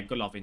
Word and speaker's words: Golovin: Obviously, he gets a strong link into Golovin, I think his name is. I don't know how to say his name. Is it Golovin? Have a look. Yeah, Golovin, sorry.